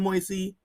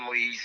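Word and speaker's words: Moïse: um in the power vacuum that followed the assassination of the democratically elected Joanel Moyes. How did I spell that? Did I say that properly? Joel Moise.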